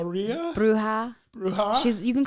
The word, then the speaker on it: bruja: your uh i want to say it right brew how really bruja she's you can call her a bruja okay